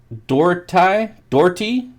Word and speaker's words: Doherty: I wouldn't say a lot, but I'm getting enough that it's pronounced Doherty without the H.